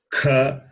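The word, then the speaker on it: ख: The second letter is kha, and the fourth letter is gha. So aspirate.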